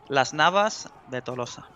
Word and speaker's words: Las Navas de Tolosa: In Spanish, yes. Okay, in proper Spanish. Las Navas de Tolosa.